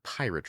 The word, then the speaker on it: Pyrat: Never, ever, ever buy the pirate rum. That is spelled Pyrat.